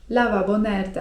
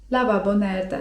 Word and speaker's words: lavabo nerede: To możemy użyć zwrotu: lavabo nerede? (czyt. lawabo nerde) lavabo nerede?